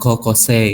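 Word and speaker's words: こうこうせい: Itu tadi yang ada kayak kokose gitu ya. Kokose. Itu kan tulisannya sei kan? Ya. Nah, itu dibacanya se panjang.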